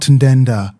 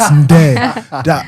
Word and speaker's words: Ndeda: On X, on Facebook, on Instagram, on TikTok, it's all the same at Nick Ndeda, NICKNDEDA, not Ndenda. Please, it's Ndeda. If it makes it easy, say it like Ndeda.